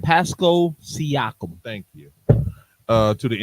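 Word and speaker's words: Pascal Siakam: Paso Pasco Paso Pasco just say his name Pasco seak thank you uh to the Indiana Pacers for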